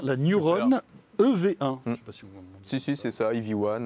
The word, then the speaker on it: EV1: C'est ça, EV1, on le prononce aussi en anglais.